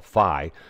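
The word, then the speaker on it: phi: irrational number we call Fi which is correctly pronounced fee but because the social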